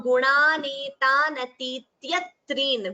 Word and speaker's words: गुणानेतानतीत्यत्रीन्: dvitvam rule while pronouncing, we chant it as gunanetanatityatreen. We do not chant it as atityatreen. That is wrong. So dvitvam is mandatory.